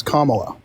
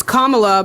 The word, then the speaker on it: Kamala: am voting Republican or you wanted me to pronounce comma it's Kamala but address what I just